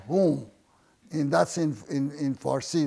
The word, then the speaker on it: hom: they had a drink it's called whom in in farsi language called h o m or maybe how you want to spell it is pronunciation is whom and that's in in